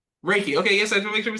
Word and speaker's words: Reiki: no not your name is it recky or raiki like how do you say that oh I see raiki raiki okay yes make sure